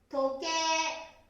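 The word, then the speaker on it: 時計: 時計。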